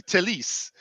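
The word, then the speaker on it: Telles: right now that it's telus his time or or as uh andy mitten says telis portuguese tele telis that's how you say it in portuguese is it yes so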